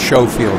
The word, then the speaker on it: Schofield: really there um kevin schofield okay so that's like schofield yeah it's it's show field i asked him okay